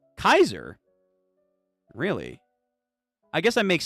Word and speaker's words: Caesar: Note Caesar in Julius Caesar is pronounced in the Latin language. That indication of pronunciation is more Kaiser.